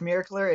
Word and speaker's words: Miraclr: Is that I'm pronouncing that right? Yeah. Okay. That's Miracler.